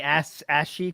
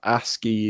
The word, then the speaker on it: ASCII: Because everyone in the chat is saying, is it ASCII code? ASCII code. Yeah. But Phil is saying ashy code. Yeah. So it's a mispronunciation from Phil, I believe.